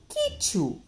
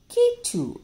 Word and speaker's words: Kitu: Kitu. We should say Kichu. Kichu. Okay? The T sounds, the T alphabet takes the sound of ch.